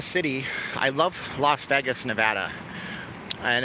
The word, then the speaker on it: Nevada: I love Las Vegas Nevada and it is Nevada it's not Nevada okay we made a special license plates so people can pronounce it correctly it's Nevada although people